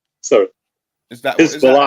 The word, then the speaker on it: Hezbollah: Israel is about to get in war with Hebelon, right? Sorry. Is that Hezbollah. how I pronounce it?